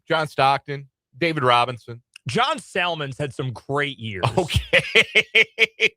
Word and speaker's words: Salmons: I call him Salmons. He pronounced the L.